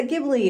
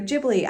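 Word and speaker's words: Ghibli: have our studio uh gibli or jibli I never know how to say it I always say Studio gibli but I've heard people say jibli so I don't really know anyways we have those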